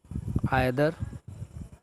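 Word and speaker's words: either: अब आइदर और आपको ध्यान रखना है, आइदर इसको लोग प्रोनाउंसिएशन के लिए ईदर भी पढ़ते हैं, ईदर और नीदर नॉर,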